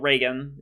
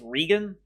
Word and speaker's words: Regan: think its name is it's not reagan it's regan if i remember the pronunciation quite correctly from last time uh